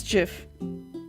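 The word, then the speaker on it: Jif: No, with the peanut butter it's GIF cuz that's a J, not a G.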